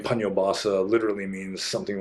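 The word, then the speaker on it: Paññobhāsa: And I generally don't pronounce my own name correctly because there's an H in there, Obasa. So actually, you're supposed to pronounce the H. So it'd be Pannobhasa.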